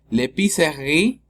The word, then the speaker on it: épicerie: L'épicerie, ¿sí? La E también es muda.